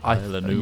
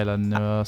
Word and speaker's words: Isla Nublar: How do you pronounce Isla. that? Is that Isla Nua? Isla Nublar. Yeah, Isla Nublar, something like that.